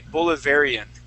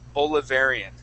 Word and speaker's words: Bolivarian: supported supported okay good now if we were toh pronounce this word in uh in English we would say bolivarian okay so that a here would be more of an a long a sound bolivarian bolivarian okay good